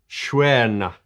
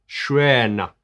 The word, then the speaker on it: Stjärna: And it's written as Stjärna, but apparently it's pronounced, help me, Schwerna. Schrena.